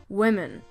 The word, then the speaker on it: women: words women and woman the difference in spelling is in the man or men part at the end but the difference of pronunciation is did in the beginning woman women some words have changed